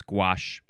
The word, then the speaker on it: gouache: It's gouache.